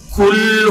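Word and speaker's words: قل: না, তখন আপনি পড়লেন কুল হুয়াল্লাহু আহাদ, পড়লেন। কুল মানে কফ উচ্চারণ না করে কাফ উচ্চারণ করলেন। যার ই কুল অর্থ কি, এই কুল অর্থ খাও, কি করো, খাও।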